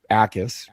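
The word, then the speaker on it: Jacas: Um, now I recently learned how to say his name, Ais. There's as if there's no J.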